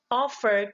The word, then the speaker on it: offer: The offer here is a verb, but the stress mark falls into the first syllable and not to the second. We cannot say, we didn't offer to go first. That is wrong.